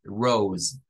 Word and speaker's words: rose: que la s es vibrante en este caso Rose vamos a decir this Rose this Rose is